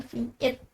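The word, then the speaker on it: Vite: Oke, jadi di sini P ini tuh dalam kota Prancis cepat diucapkan Vit adalah alat bantu pengembangan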